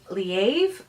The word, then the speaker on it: Leav: collection memories by laying leaves or there's a different pronunciation I've always said leaf but I guess I'm saying that wrong but okay so I